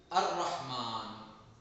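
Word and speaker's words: الرحمن: हम लोग दोहराते हैं जिसम र लाम नहीं पढ़ जाता रफ शमसिया के कुछ अ जैसे अर रहमान अस सदका अजिक देखिए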